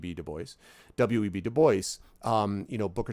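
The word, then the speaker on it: Du Bois: web deboy side note not web DUIs he wanted it Deo asked it to be pronounced web Deo web deoy um you know Booker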